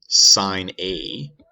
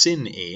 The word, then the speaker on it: sin: so it's also written sine a i'll show you that in a second so the way this is usually written is like this sine aids looks like it should be pronounced sin a and that's the button